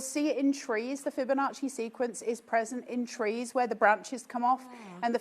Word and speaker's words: Fibonacci: How to pronounce it? Fibonacci. It's Fibonacci.